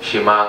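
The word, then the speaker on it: שמע: this is what many would say is the shema anwag na si shema because of the first word ng here in the Hebrew it's shima ang pronunciation so here Israel the Lord our God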